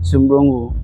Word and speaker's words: Sumbrungu: Sumbrungu. So you see, am I pronouncing it well? Yes, that is it, Sumbrungu.